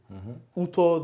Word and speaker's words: Utoo: Utoo. Yu-Tu is the exact pronounce of the trademark.